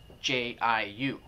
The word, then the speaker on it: jiu: The other one is, for example, Jiu, J-I-U. Okay, so it's actually an abbreviation of J-I-O-U. So the middle letter drops out, and so it's pronounced Yo, so Jiu.